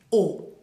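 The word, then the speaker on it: aux: A más le va a devenir O. O. A-U, acuérdense que es O. Bien, O. A más le, plural, va a devenir O también porque la X no la pronunciamos.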